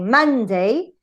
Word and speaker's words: Monday: Yes, you have, for example, here, if you have a two-syllable word, like Monday, a stress in the first syllable.